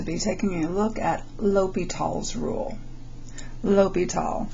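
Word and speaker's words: L'Hôpital: taking a look at ly tall's rule ly tall this is a French name that's how you pronounce it it looks a lot like La hospital but it is pronounced Lal okay so Lile is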